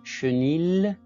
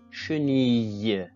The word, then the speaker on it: chenille: On ne peut pas lire chenille, mais chenille, chenille.